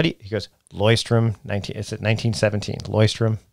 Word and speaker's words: Leuchtturm: And she said, we've been learning, trying to figure out for years how to pronounce this thing. How do you, he goes, Leuchtturm, 1917, Leuchtturm, it's Leuchtturm.